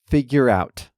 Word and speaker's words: figure out: you probably heard that I pronounce figure out like it's one word. The R sound at the end of figure leads right into the sound in out figure out. The two words blend together so they sound like one.